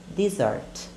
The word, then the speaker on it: dessert: Então, para deserto nós dizemos desert. Desert. Desert. E sobremesa, aquela que a gente adora, a gente vai dizer em inglês dessert. Dessert. Dessert.